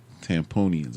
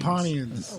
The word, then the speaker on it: Tampanians: Like you say Tampanian? Yeah, Tampanians. Yeah. Don't say the other way. Tamponians or Tamponians. Tampanians.